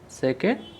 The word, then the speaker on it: つ: बोला नहीं जाता था इसको सु बोलते हैं सु ये टी साइलेंट नहीं है सु इसको जीभ को ऊपर सटाना है उसके बाद सु बोलना है इसको तू नहीं बोलना है और यह इसका टी